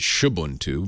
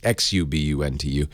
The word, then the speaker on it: Xubuntu: They make a version of Ubuntu for slower, older machines called Xubuntu, or some people pronounce it Shubuntu, but it's Xubuntu.